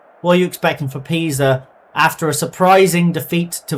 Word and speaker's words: Pisa: I think it might be pronounced Pisa, like the leaning tower of Pisa.